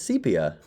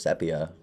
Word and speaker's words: sepia: It's sepia. I always thought it was sepia.